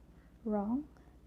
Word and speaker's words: wrong: So for letter W, it's silent when it starts off the word before the letter R. For example, wrong, reads, right, wrote, and